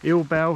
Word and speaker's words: Ill Bell: and go south towards I think it's pronounced little bell ill Bell little bell um it's